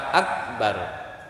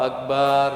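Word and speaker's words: أكبر: Kai ini tolong diperhatikan Jangan karena ingin apa Hai supaya sama panjang semua gitu urut terakhirnya selalu Akbar juga di panjang-panjang kan itu enggak boleh karena merusak makna Akbar Akbar ya dengan Alif dengan huruf mad huruf panjang itu artinya haid atau menstruasi Hai aja uh sekali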